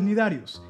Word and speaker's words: cnidarios: Estoy hablando de los cnidarios, y no, la C no se pronuncia.